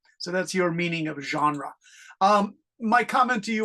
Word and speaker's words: genre: only thing is here that French word is genre genre it's a French word with French pronunciation in English it means